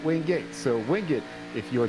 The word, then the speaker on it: Wingate: quite know why, but for whatever reason, it's pronounced Wingate, not Wingate.